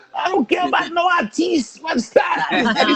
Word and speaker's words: artiste: So the pronunciation for it is Mm-hmm. artiste, artiste.